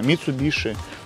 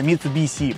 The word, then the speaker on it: Mitsubishi: публике дышит вот видишь написано mitsubishi хотя правильно читается mitsubishi по-японски движок японский может быть так